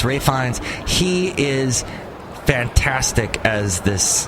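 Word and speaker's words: Ralph Fiennes: and then Ralph Rines always want to call him Ralph cuz it's spelled that way but it's Rines he is fantastic as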